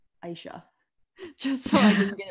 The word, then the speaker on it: Isha: first of all um my name is pronounced aisha yes or if you